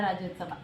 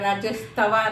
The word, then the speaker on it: ರಾಜ್ಯೋತ್ಸವ: ನಾಳೆ 69ನೇ ವರ್ಷದ ಕನ್ನಡ ರಾಜ್ಯೋತ್ಸವ ಕರೆಕ್ಟ್ 69ನೇ ಕನ್ನಡ ರಾಜ್ಯೋತ್ಸವ ಕೆಲವರು ರಾಜ್ಯೋತ್ಸವನು ಸರಿ ಹೇಳ ರಾಜ್ಯೋತವ ರಾಜ್ಯೋತ್ಸವ ಅಂತಾರೆ ರಾಜ್ಯೋತ್ಸವ ಅಂತನು ಸರಿ ಹೇಳೋದಿಲ್ಲ ಕೆಲವರು ಉಚ್ಚಾರಣೆ ಹಾಗೆ ಹೇಳುತ್ತೆ ನಮ್ಮ ರಾಷ್ಟ್ರಕವಿ ಕುವೆಂಪು ಅವರು